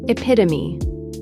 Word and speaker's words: epitome: Epitome. 4 syllables. The final E is not silent, pronounced epitome.